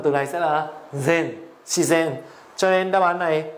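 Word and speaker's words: 自然: Phát âm của từ này sẽ là zen, shizen.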